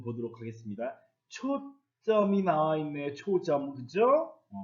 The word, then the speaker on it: 초점: 초점, 그죠? 그런데 실제로 이것은 초점 이렇게 된 소리로 뒤에 발음합니다. 그러니까 앞말 끝소리 모음, 울림소리입니다. 뒷말 첫소리 된 소리로 바뀝니다.